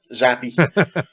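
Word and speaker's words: Zappe: Now we know how to pronounce his name at least, right? Yeah, Zappy.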